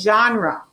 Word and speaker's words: genre: study right here g n re e i pronounce that as genre it's meaning a specific type of book and